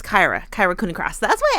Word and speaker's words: Kyra: incorrectly I keep saying Cara someone left us a comment a few people have left left us a comment saying it's Kai like Cobra Kai Kyra and I keep saying Cara like car like Tara